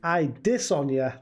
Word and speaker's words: Adesanya: paul power yan versus i dis on ya that is how you pronounce his name i don't see jean